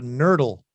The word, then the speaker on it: nurdle: on your toothbrush it's called a nurdle and it rhymes a turtle do you do you